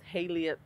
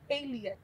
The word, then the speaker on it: Haillie: How do you pronounce it? My own research. Yeah. My name is Haillie. I didn't know. I wasn't trying to. Haillie.